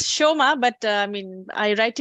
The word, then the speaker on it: Soma: no I mean it's Shoma but I mean I write it without the age but it's not a problem I mean it's it's pronounced Shoma in Bengal it's Shoma but uh okay yeah